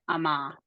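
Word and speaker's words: אמר: want to say them we assume that it has the Comets underneath we say Amar okay so if you're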